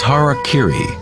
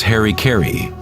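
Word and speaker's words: hara-kiri: one form of ritual suicide or seppuku was hara kiri was often mispronounced as harry kerry it means to impale one's horror thereby cutting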